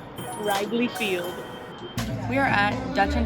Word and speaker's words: Wrigley Field: To pronounce it right, be like, this is Wiggly Field. No. You gotta be like, welcome to Wrigley Field.